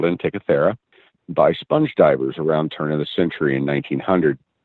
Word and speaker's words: Antikythera: In your book, you also talk about I believe it's pronounced Antikythera device. The Antikythera device. That's really good, Tess. Yay, I did it! Looking at no, you nailed it. The Antikythera device.